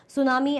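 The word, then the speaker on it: tsunami: करेंगे Japanese word है सुनामी ये ध्यान रखना सुनामी क्या है सुनामी इज a Japanese word है ना जो दो लर वर्ड से बना है सु और नामी टी साइलेंट है इट इज अ किलर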